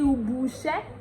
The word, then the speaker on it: ubuṣẹ́: Ondo will be like me lọ sí ubuṣẹ́. Ubuṣẹ́. You know that ibi is Yoruba. And now when you want to pronounce it in Ondo dialect, it will be ubuṣẹ́.